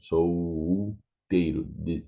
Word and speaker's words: solteiro: Casal, solteiro, solteiro, the same. Solteiro is not the L sound, it's solteiro.